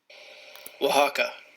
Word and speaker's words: Oaxaca: Uh, how do you pronounce? Man, it's like I swear it's like Wakata. Oaxaca.